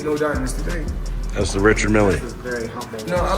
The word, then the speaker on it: Richard Mille: That's the Richard Mille. No, I like to call this, well, people pronounce them different ways. Rashad Mill is what my jeweler told me, so. Exactly how you say it, Rashad Mille.